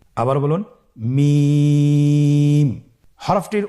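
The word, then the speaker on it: ميم: মিম। মিম হরফটি উচ্চারণের ক্ষেত্রে অবশ্যই বারিক হবে, পাতলা হবে এবং তিন আলিফ টেনে উচ্চারণ করতে হবে। আমার সাথে আরেকবার চেষ্টা করুন। মিম। আবার বলুন মিম।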